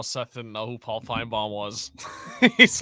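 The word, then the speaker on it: Finebaum: didn't know who Paul fine bomb was he's like this Paul fine bomb guy couldn't even pronounce his name right Paul Fine Bal Bal like lip Bal like lip balm who is this Paul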